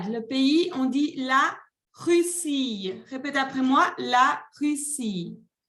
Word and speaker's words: Russie: Le pays, on dit la Russie.